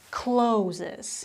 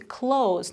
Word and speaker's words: clothes: but it's not to close not to close the door it's close there are a lot of consonants at the end and that's why it makes it quite difficult for pronunciation close okay that's it that was number 13.